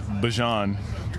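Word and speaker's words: Bijan: How you pronounce my name is Bjon for everybody that's that's out there.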